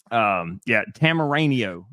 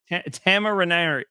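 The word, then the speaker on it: Temerario: Tamaranio. No, right? no, there's no N in there. Tamarario. What? Tamarario. There you go. All right, that'll work. Is that right or wrong? That's right. Tamarario.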